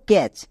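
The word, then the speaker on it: catch: বুঝবো লিখতে গিয়ে দেখে নেব যে কখন টি সাইলেন্ট থাকে চলো এক এক করে দেখি যেমন দেখো ক্যাচ এখানে দেখো তো এখানে টি রেড কালারের আছে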